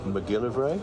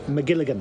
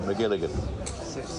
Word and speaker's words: McGilligan: do think and I'm going to get his name wrong now, but the Hitchcock biography by Patrick McGilly McGilligan. McGilligan is an absolute must read and so